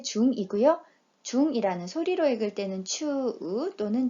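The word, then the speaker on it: 中: 중이라는 소리로 읽을 때는 추 또는 주, 가운데라는 뜻은 낚아라고 읽습니다.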